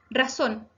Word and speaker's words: razón: Razón. Razón se acentúa en la última sílaba, por lo tanto es aguda.